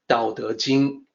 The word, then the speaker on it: Tao Te Ching: Even when it's spelled with a T and CH, it is still supposed to sound like Dao De Jing. The sound doesn't change.